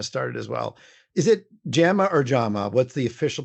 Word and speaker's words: Jama: ones of course Europe in some languages it's known as Yama as well because it's so yeah